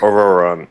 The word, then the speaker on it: Ororon: Ororon. Okay, that's how you pronounce it.